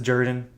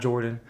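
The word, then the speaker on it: Jordan-Hare: Look, I've been I've been to Jordan Hair Stadium, and they they pronounce it Jordan, not Jordan.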